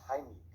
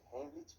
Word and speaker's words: Heimlich: Vamos a ver en este video la maniobra de Heimlich, que por cierto, esa es la pronunciación correcta porque está en alemán. La mayoría dice Heimlich, pero bueno, se entiende de qué se trata.